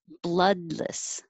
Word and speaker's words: bloodless: would hear it twenty bloodless the o two o's here sound like uh like up blood bloodless comprehensive comprehensive and 22 ache